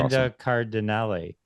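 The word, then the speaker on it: Linda Cardellini: Linda Cardinelli. Yeah, you pronounced the name right.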